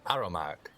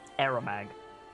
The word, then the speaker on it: Aeromag: a dragon turtle's gullet our kin aramak arrow hang on no that's me saying the name wrong aeromag we were told i did say it right then yeah we were